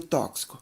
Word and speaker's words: tóxico: Em qual das seguintes sequências de palavras a letra X também é pronunciada da mesma maneira que você pronuncia o tóxico, empregada no cartaz?